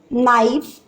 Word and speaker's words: knife: Silent letters, that is K silent there, knee, knife, K silent, note, no.